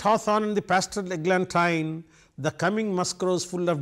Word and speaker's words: eglantine: now I tell you I said eglantine because it rhymes with wine eglantine wine I'm in the rhyme scheme when I read that Glanton for example e AG